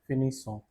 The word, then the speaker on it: finissons: Je finis, tu finis, il, elle, on finit, nous finissons. Now remember, double S is to be used in nous form and the pronunciation is finissons.